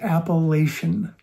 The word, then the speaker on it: appellation: The word is appellation. Four syllables.